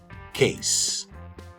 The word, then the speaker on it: case: Você vai ver as pronúncias de case, base, gasoline e muitas outras palavras que têm um S entre duas vogais, que em português geralmente a gente pronuncia esse S com som de Z, mas em inglês é som de S mesmo.